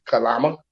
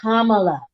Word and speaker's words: Kamala: Kalama and Kalama. What's her name? Kalama. Really? That's how you pronounce it? I don't know her name. Kamala.